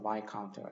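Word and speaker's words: viscount: S가 묵음이어서 바이카운트가 되고 남작은 베론.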